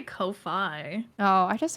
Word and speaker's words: Ko-fi: talking about this site not like literal coffee yeah yeah so I that's why I'm like okay I'll just Kofi Kofi wiy like WiFi Wei wey wey is how